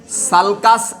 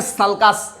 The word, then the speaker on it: sulcus: सल्कस या तो सुल्कुस। क्या बोलते बताओ? कैसे प्रोनाउंस करोगे, सल्कस बोलोगे या सुल्कुस बोलोगे? देखो मैं बताता ये पर, SULCUS, तो कैसे प्रोनाउंस करोगे, सुल्कुस या सल्कस?